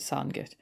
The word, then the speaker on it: Sandgate: and that's in the Sandit area. And I know it's spelled Sandgate, but we pronounce it Sandit.